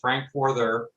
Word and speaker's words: Frankforther: take a look so my name is frankforther that's pronounced frankfurter i'm a retired electronic